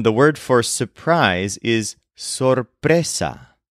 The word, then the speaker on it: sorpresa: wedding and then the word for surprise is Sessa spelled s o r p r e s a Sessa for example this meeting was a surprise and